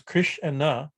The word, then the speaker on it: Krishna: as i'm saying to say the word krishna two syllables the two syllables kris and na is so powerful that